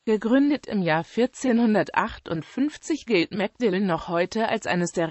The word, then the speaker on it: Magdalen: mcdelline College der Name spricht sich aus ist eines der älteren Colleges der Universität Oxford gegründet im Jahr 1458 gilt mcdillan noch heute als eines